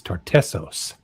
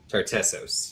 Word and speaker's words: Tartessos: I said it wrong. The The place that he said is Tartessos. Tartessos, yes.